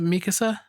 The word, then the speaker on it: Mikasa: Mikasa.